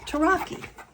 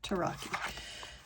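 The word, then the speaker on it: Tarocchi: So now we know that tarot came from an Italian card game, Taraki. This one, and that is the correct way to say it, Taraki.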